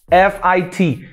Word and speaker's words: fit: how you spell it f-i-t pronunciation fit be careful not to confuse this with feet well feet are your best so listen to the pronunciation one more time feet and fit fit okay you might be